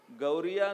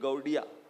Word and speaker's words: गौड़िया: श्रीमती राधा रानी का एक नाम है गौरी, इसलिए बंगाल में उनका जो उच्चारण होता है वो र को ड बोलते हैं। तो राधा रानी के जो भक्त हैं, गौरी के जो भक्त हैं, वो क्या बने? गौरिया नहीं, गौड़िया, वहां पे गौड़िया।